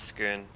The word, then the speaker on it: Scone: Uh, did I pronounce that that palace correctly? Skoon. Yeah, I don't know. Probably. I don't know cuz it's spelled scone. Um, no, I think it's Scoon.